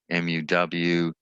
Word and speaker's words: mu: a greek letter and usually write it mu m u and it's pronounced like mu muw and this mean only can use for interval